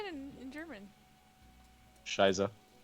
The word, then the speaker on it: Scheiße: Shiza. Scheiße.